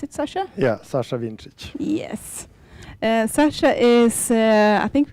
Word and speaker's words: Vincic: Is that how you pronounce it, Sasha? Yeah, Sasha Vincic.